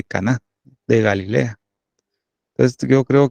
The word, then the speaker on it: Caná: Porque lleva tilde, ¿va? Las bodas de Caná, de Galilea.